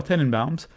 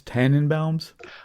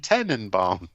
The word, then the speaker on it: Tenenbaums: from 2001, The Royal Tenenbaums. And I had to be careful how I pronounce that because I've always heard it as Tannenbaums. Like Christmas tree in German.